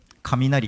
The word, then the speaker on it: Kaminari: Kaminari. Is that how you pronounce it?